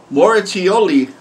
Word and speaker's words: Moracchioli: is my first time a metal cover by Leo moratioli you finally pronounced it right I want some more